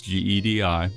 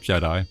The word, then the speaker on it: GEDI: And then the last fun reason is because you can make a simple abbreviation of my name as GEDI that you can pronounce like Jedi, aka a Jedi dividend investor, which sounds kind of braggy, but I only mean it in a comedic way.